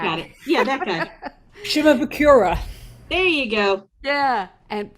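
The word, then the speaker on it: Shimabukuro: And there's a guy named Jake, whose last name I can't pronounce. Jake. Zimbarukuruku. Yeah. That You guy. got it. Yeah, that guy. Shimabukura.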